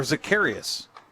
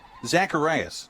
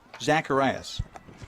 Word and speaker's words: Zacharias: there we go so natalie zacharias or zakarius did i nope i gotta get that right zacharias that's it zacharias i asked him before the game to help me with pronunciation so natalie's out there